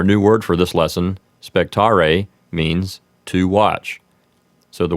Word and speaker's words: spectare: If you're using ecclesiastical pronunciation, you would want to roll the R in spectare, and the E at the end would sound like the E in bet.